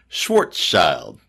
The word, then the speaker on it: Schwarzschild: weird and I said but it only has two syllables Schwarzschild shorts out like I'm